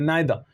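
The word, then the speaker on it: neither: देखिए नायदा के बाद दोस्तों हमेशा नोर का यूज होता है, इसमें आर हमारा जो है ना साइलेंट होता है इसलिए इसको हम नाइदर प्रोनाउंस नहीं करते, नायदा, ठीक ना।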